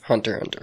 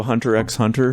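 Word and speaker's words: Hunter × Hunter: you know that show Hunter X Hunter. Hunter X Hunter X Hunter. Well, actually, you know, in the culture of Japan, you don't actually pronounce the X as a syllable.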